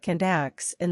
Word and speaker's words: Clíodhna: And there is Clíodhna — pronounced something like KLEE-uh-nah — the queen of